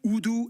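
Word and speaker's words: Urdu: used as lingua frankas udu and English yeah that's right it's pronounced udu not that's good to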